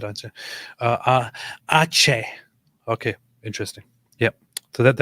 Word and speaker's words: Aceh: My wife was accosted somewhere in Ate.